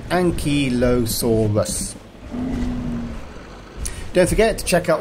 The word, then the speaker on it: Ankylosaurus: a big one and although it looks like a difficult word to say it's not for dinosaur you say it like this Ankylosaurus don't forget to check